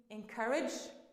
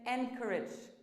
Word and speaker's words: encouraged: wrong way would be encouraged now a lot of people say encouraged but that's wrong it should be encouraged so the stress is on the second syllable not the first unique if we say